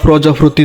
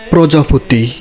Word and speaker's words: প্রজাপতি: সত্যিকারের শিক্ষক হয়ে আপনি আমার ভুল ভাঙ্গিয়ে দিয়ে বললেন, ওটা প্রজাপতি নয়রে ওটা হবে প্রজাপতি।